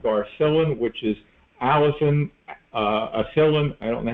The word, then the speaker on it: allicin: We call it Garcillin, but technically it's allicin or acillin. I don't know the correct pronunciation of it.